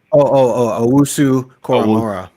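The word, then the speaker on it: Owusu-Koramoah: Owusu Koromora.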